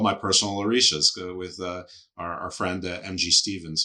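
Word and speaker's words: orisa: They are orishas.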